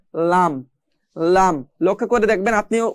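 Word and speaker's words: ل: সামনে চলে আসলাম, আগা, এই জিহ্বার আগার কোণা এক পাশের কোণা সামনের উপরের এক পাশের দাঁতের গোড়ার সঙ্গে লাগিয়ে পড়তে হয় লাম।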